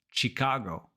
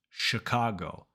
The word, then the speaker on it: Chicago: it as Chicago but in English it's Chicago sha sh sh so in that first syllable you're focusing on two things the very first sound is sh not CH Chicago and that vowel is a not e just like public it's a uh sh